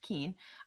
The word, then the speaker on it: Keene: And yes, it's pronounced Keene.